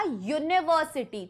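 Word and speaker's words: university: बट जब मैं इसको प्रोनाउंस करूंगी तो यह प्रोनाउंसिएशन में होगा यूनिवर्सिटी। तो यू यू का हिंदी में साउंड आ रहा है और य का जो साउंड होता है वो एक कंसोनेंट साउंड होता है।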